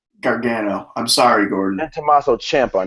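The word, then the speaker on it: Ciampa: the comments but yeah and in what correct pronunciation smart master Gordon of that would be Johnny Gargano and Gargano and Champa Champa Champa yeah I apologize everybody for being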